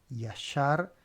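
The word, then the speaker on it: ישר: Yashar, Yeshará. Fíjense qué interesante. Acá tengo, digamos, como dos sílabas, ya, shar, y acá tenemos tres, ye, shara.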